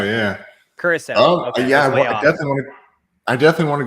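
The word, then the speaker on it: Curaçao: krakow i don't know how to say it curacao yeah curacao yeah i definitely want to go out there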